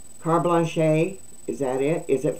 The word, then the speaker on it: carte blanche: I used to say that word is C-A-R-T-E, carte, B-L-A-N-C-H-E, blanche, to continue their ridiculous pricing.